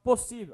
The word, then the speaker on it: possível: Agora separa a palavra possível. A professora já viu, ó. Possível. Qual a sílaba mais forte? Si.